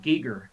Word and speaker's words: Giger: talked about a bit is it giger or geiger how do you say that it's pronounced giger eager he basically they took his hellscape vision